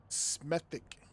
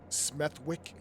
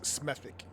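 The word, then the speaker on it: Smethwick: But being familiar with English pronunciations, I definitely know it's not smeic. So I believe it's smethic. I just don't understand why you guys put W's in words if you don't want to use them.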